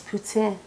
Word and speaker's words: poutine: with a poutin cake I believe the proper pronunciation is poutin for my poutine cake